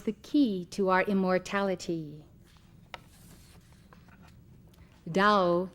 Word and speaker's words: Dao: Dao in Chinese, which as you know is spelled T A O.